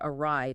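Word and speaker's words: awry: When you scan that word, your brain immediately sees the letters a w like in awful or awesome and then just tacks on the r y r. But functionally the prefix is just a. It comes from an old English word meaning to turn the word ry. So it's a and ry uh r ye.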